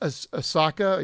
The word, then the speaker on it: Asuka: Asaka, yeah, or Asuka, Asuka. Asuka. Asuka. This. It's Asuka. That's the way to pronounce Asuka, it.